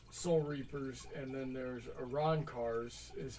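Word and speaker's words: Arrancar: a choice would you pick soul reaper or aaron carr i don't know what aaron carr is yeah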